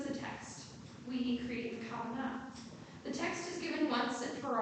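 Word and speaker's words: כוונה: Keva and kavanah. The first word is first syllable, the last word is on the second word is on the last syllable.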